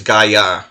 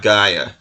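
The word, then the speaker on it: Gayà: I think I'm putting the emphasis on the wrong syllable in his name. Yeah, I think it's Gaia, not Gaia.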